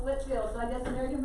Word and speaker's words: Whitefield: to double check and it is pronounced whitfield so i guess american pronunciation we just got lazy and so we said whitfield and not white film